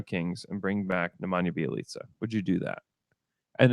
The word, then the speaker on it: Bjelica: Let's see if anyone can spell it here. BJELICA.